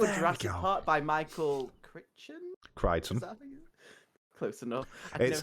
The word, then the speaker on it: Crichton: To remember how to say his name, it's the android from Red Dwarf, just spelled differently. Crichton? Yeah. It's got a ch in it.